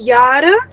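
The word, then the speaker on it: Jahr: the word but the meaning of the word यार is years okay साल कितने साल हो गए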